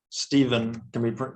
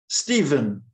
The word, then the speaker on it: Stephen: And then the name Stephen can be spelled with a PH. Or a V.